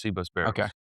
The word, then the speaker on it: Cbus Barrels: Is it Cbus Barrels? Cbus Barrels. Which is spelled like letter C B U S Barrels for anybody out there.